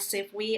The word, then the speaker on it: SIFWE: And Kelsey pronounced it right. We call it SIFWE among folks who are affiliates with us.